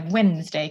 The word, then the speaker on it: Wednesday: Wen which is where Wednesday comes from that's that's where the D comes from that nobody pronounces um and uh so